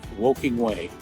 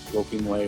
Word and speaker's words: Woking Way: I know the other one is it's on a street called W walk woking way w O k i n g walking way or walking way some people pronounce it that is still